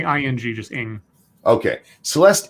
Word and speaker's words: Ng: nor numerous occasions indeed I've never been able to quite pronounce the last name ng right it's me you say ing just in okay Celeste Eng Oscar offer I got